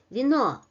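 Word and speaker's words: вино: Sometimes it's even difficult to say what comes exactly after v in the first syllable. So in orthography, of course, we preserve this e letter, but in pronunciation the quality is reduced. Vino, vino, vino.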